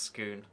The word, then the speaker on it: scone: is perfection this is pure perfection chat it's pronounced Scone.